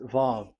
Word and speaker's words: Vav: So the word, the shape Vav is really pronounced V, like Vogue. That is it, pronunciation. So here in this side, it's pronunciation. This is pronunciation. So according to the old Hebrew word today, those who, the owner of the words, I mean, so it's a V. So don't change it into W.